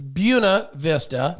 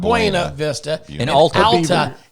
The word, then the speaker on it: Buena Vista: the Beer Christa it's Buna Vista not Buena Vista yeah it's out say that again it's out to Buena Vista Yuna Buna yeah it's not the Spanish pronunciation right but I still